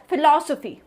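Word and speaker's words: philosophy: ओ पी ह ए D word इस pronounce आज फिलासफी फिलासफी नौ इफ यू ले मैन एक नॉर्मल पर्सन इस वर्ड को प्रोनाउंस करता है उसकी जस्ट स्पेलिंग देख के क्या पता उसको यहीं पता है की पी और ह का अगर कोई कांबिनेशन कर रहे द उसको फॉर बोलते हैं उसके अलावा एल के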